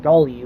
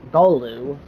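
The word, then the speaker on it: Gallu: Those 3 new ones being the Dayan, the Galu, which I always pronounced it Galu, which is incorrect. It's actually Galu, not Galu, Galu.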